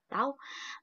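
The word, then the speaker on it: τ: Nih simbolnya tau. Ini dibacanya tau.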